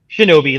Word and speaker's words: Shinobi: Shinobi, like Shinobi, the old video game.